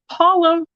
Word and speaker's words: Paula: Paula rhymes with koala in at 3.